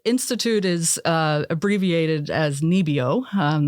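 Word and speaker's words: NIBIO: is uh abbreviated as nebio um that's how it's pronounced in Norwegian and they are essentially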